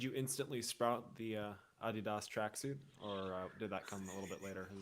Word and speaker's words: adidas: say um everyone should own a pair of adidas which is the correct way to say it